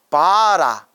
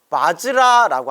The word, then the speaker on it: 바즈라: 뜻이 아니라 인도 산스크리트어 원래 발음은 바즈라라고 합니다. 바즈라라는 산스크리트어를 한자로 표기한 걸 우리 한글 발음으로 할 때 바라 이렇게 발음을 해버리는데, 바라가 아니라 원래는 바즈라가 정확한 표현이라고 합니다.